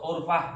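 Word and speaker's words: عرفة: As-sholatu urfah misalnya gitu kan. Sholat secara umumnya bahasanya seperti ini. Dia bacanya as-sholatu gurfah, jadi sholat itu bawa gayung. Masya Allah, ternyata itu bukan titik asli.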